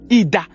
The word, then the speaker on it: Idah: He should gain access through a town called Idah.